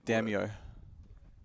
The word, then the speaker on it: Damio: I feel like you're separating the damn and the yo when it's just the one. Damio.